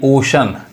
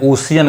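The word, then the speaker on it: ocean: श ही पढ़ाएगा यानी ओशन। अब इसको भी बहुत सारे लोग गलत पढ़ते हैं, ओशियन कहते हैं, ओशन होता है सही उच्चारण, मतलब क्या होता है, समुद्र, सागर।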